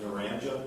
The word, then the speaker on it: Naranja: Have you seen Naranja? Is that Narranja? That is correct. It's pronounced Naranja? Naranja, yes, sir.